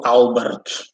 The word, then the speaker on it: Albert: Albert is a common name too, but it's pronounced harsh, Albert.